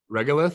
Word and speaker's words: regolith: I think and it's regular regolith regolith oh that's how it's pronounced okay and uh we